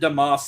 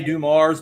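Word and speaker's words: Dumars: We we pronounce it Damas in Louisiana. I know they all say Dum Mars, but we say Damas from from Baylor University.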